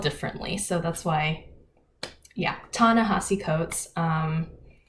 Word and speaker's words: Ta-Nehisi Coates: Ta-Nehisi Coates. It's spelled differently, so that's why. Yeah, Ta-Nehisi Coates.